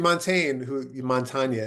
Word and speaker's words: Montaigne: I mean, Montaigne, I guess is how you say it, almost right. It's French.